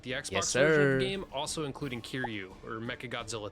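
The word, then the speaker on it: Kiryu: All legit Toho monsters with the Xbox game also including Kiru or Mecha Godzilla 3.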